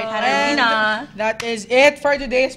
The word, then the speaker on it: Katarina: on Twitter Yeah That's How You Say it Katarina Katarina that is it for today's podcast we're so